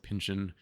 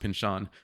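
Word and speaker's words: Pynchon: heard his name spoken so I always said Pinchin Pinchin Pinchin I started talking to people like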